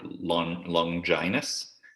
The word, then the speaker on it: Longines: We were talking last week a little bit about what our predictions were for the Longines or Longinus was what we concluded. That was the pronunciation.